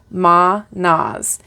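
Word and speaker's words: Mannaz: So, Ma-Nas.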